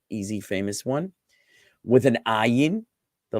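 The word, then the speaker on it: עין: The ayin is a guttural letter, ayin, ayin.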